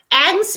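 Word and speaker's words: angst: for me version trial how is it pronounced trial version it's pronounced angs means your moral dilemma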